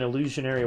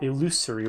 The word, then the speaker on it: illusory: Oh wow, that's just straight up an illusionary wall, or illusory wall, I believe is technically the correct way to say that.